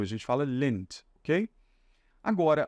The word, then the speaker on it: Lindt: da cidade tá esse DT aqui no final a gente fala como se fosse um p apenas a gente não fala the tá então é igual aquela marca de chocolate Suíços né Lins a gente não fala Lindt né Igual o pessoal fala aqui no Brasil a gente fala lente